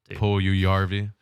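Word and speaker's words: Puljujärvi: Oh, is that an extra little syllable there? It is Finnish. Yes, Puljujarvi.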